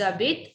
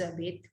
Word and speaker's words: habitent: J'habite, tu habites, il habite, elle habite, nous habitons, vous habitez, elles habitent, elles habitent. ENT is silent.